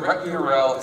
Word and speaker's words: ret URL: use what's called a ret URL. Am I pronouncing that? Yeah. Okay. Good. I say ret URL. So here, the ret URL is simply just the